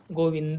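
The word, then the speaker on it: गोविन्द: कहते हैं गोविंद किंतु जब हम इसको संस्कृत में उच्चारित करते हैं तो इसको उच्चारित किया जाएगा गोविंद यानी द को हम पूरा उच्चारण करेंगे संस्कृत में जब तक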